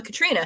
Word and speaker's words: Catriona: not, but she says, I knew a Catriona who didn't pronounce the O. So she knew a Katrina who didn't pronounce the O. And we don't either.